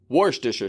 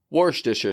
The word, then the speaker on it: Worcestershire: and let's get it quicker warh disher sauce warh disher sauce wash disher sauce let's put that into some phrases this